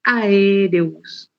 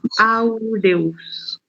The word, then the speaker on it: aureus: Y el Staphylococcus no es Aereus, es Aureus. Aureus, sí. Sepan pronunciarlo, ¿verdad?